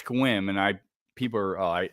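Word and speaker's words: Sequim: Uh we have an area up here called Squim. I It's It looks like it's spelled sequium, sq, but it's Squim and I people are I never heard the end of that, but uh home tulips.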